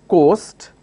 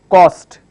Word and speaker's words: coast: So instead of saying coast, he will say cost. Now this is in terms of oral communication. So it will sound like, basically he wants to say coast, but he's pronouncing it as cost.